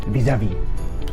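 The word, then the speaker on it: vis-à-vis: we have here is visavi vis-a-vis right that is the correct pronunciation you know in relationships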